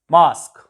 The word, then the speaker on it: mosque: Mosque, it is used mosque. Masjid जिसे आप कहते हो, UE is silent.